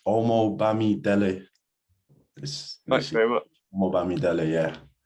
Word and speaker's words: Omobamidele: It's Omobamidele.